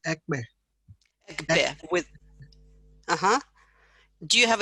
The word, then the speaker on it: Ekpe: I think it's pronounced Ekbe.